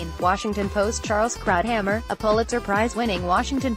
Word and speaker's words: Krauthammer: regrets a star of page and screen drive Krauthammer pronounced Krauthammer was one of the highest profile commentators of